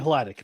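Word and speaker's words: Hladik: I said his name wrong, didn't I? Who? Ben Haldy. Defense. Lions defense. Oh, Ben. Oh, well, not that. Not the name correction. Ben Hladic. It's Ben Hladic, but okay.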